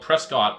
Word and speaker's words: Prescott: And Jamie Lorenz of Prescott, Arizona, spelled Prescott but pronounced Prescott, reported seeing the object and stated that the lights were red with a lead light that was white.